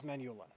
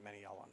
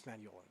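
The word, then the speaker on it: Manyullyn: In vanilla Minecraft, with Tinkers, the end game material is Menulin, or Menielin. I'm declaring jihad against anybody who pronounces it Menielin. I don't think it's Menielin. It's Menulin, guys.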